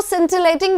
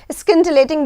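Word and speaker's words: scintillating: SC होता है ना, इसको प्रोनाउंसिएशन में बहुत प्रॉब्लम आता है। जैसे स्कूल होता है SC वाला, है ना, कई लोग इसको सिंटिलेटिंग भी बोलते हैं, बट क्योंकि SC आया है तो इसको SC स्किंटिलेटिंग बोलना चाहिए, ठीक है।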